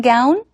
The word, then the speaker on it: gown: One more time Peter asks, "Did you wear your graduation gown?" 까운이 아니라 g운 발음하시고요.